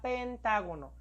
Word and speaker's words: pentágono: ¿Cuál es la sílaba tónica en la palabra pentágono? Ta. Muy bien. Pronunciemos pentá. Muy bien. Entonces, pentá, la sílaba ta va a ir tildada porque es una palabra esdrújula.